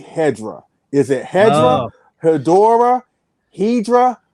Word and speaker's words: Hedorah: sounds so gatekeepy, but basically the word is Hedorah, and it's not Hedorah, which would mean something entirely different and spelled entirely different in Japanese.